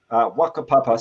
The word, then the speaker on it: whakapapa: the Maori concept of whakapapa, Wakapapa, spelt with a WH.